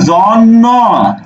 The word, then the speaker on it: জন্য: তো উচ্চারণ কি হচ্ছে তুমি কি বলছো এই জন্ন বলছো এভাবে একেবারে স্পেসিফিক ভাবে উচ্চারণ করব জ তাহলে জন্ন এই আমার জন্য একটি